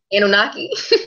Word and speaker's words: Anunnaki: I'm just going to let you pronounce it. Anunnaki. Anunnaki, yeah.